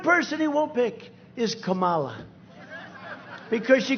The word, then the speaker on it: Kamala: to interrupt him know my name's kamala like comma i remember that like